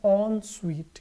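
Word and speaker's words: en suite: इस वर्ड का प्रोनाउंसिएशन है ऑन स्वीट।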